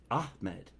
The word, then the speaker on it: Ahmed: Ahmed. Thank you. I said it right? Yeah. Ahmed. Yeah. You gotta extend the H. There's no C or K in there. It's Ahmed.